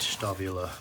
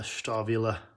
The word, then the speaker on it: Stahlwille: Ah, a stavilla sticker. Sweet. Find somewhere to put that. It's not stall. This is pronounced with a vv sound. And there are no silent letters in German.